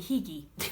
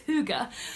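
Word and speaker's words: hygge: h y g g which for a long time I was saying higy but it's Huga um and it means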